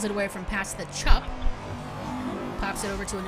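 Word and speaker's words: Tsup: Ah, so it is Chup. Gotcha. Okay, cool. Makes sense. Chup. Except all right. It's spelled T-S-U-P, so...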